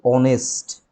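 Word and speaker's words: honest: মানে শুরু হচ্ছে এইচ দিয়ে, কিন্তু এইচের উচ্চারণটা উহ্য থাকে। উচ্চারণটা হয় কিসের মতো? কোনো একটি ভাওয়েলের মতো, তার আগে অ্যান বসবে। যেমন আমি যদি বলি যে অনেস্ট ম্যান, কাউকে আমি বলছি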